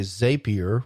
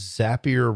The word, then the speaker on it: Zapier: So sometimes I hear people say Zapier, which is easy to understand because it kind of looks like that when you look at it. But what the Zapier people say is Zapier rhymes with happier.